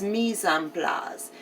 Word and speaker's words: mise en place: And it's spelled like mice in place. M-I-C-E. And then a space N, and then a space P-L-A-S. But it's mise en place.